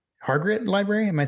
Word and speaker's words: Hargrett: right and John actually make sure that I'm pronouncing this correctly hargret Library am I saying that right yeah okay